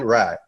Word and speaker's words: Rai: it for our viewers well the first name is right yeah the last one is right yeah argent right got